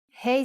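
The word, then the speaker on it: ה: Hebrew letter is hey hey sound is ha but it can also sound like ah you will see how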